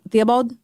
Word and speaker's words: Theobald: Amy Theobald?